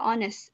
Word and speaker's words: honest: Tulisannya honest tapi dibaca honest. H-nya tidak dibaca.